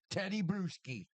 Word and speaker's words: Bruschi: No, it was Brewhouse. How do you say Teddy Bruschi? Teddy Bruschi.